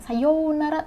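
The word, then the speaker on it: さようなら: Terus ada konnichiwa, konbanwa, ada sayonara, bukan sayonara tapi sayonara ya pakai o.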